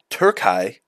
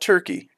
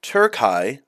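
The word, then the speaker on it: Türkiye: of History my favorite subject picture this in tury not turkey tury I hope I'm pronouncing that right among the dust of Ages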